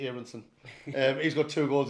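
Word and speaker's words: Aaronson: got to keep an eye on is Brendan arenson now I know it's pronounced arenson but it's two ears in front it's e erinson um he's got two goals and he's got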